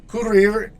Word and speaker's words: courir: So here, the second verb, courir, ends in an R, and here I am pronouncing the R. Why? Because this is a special case. The vowel before the R, it's an I. It's not an E, it's an I, okay? So in this case, courir. So our R's are pronounced at the end in French as long as it isn't an E, okay?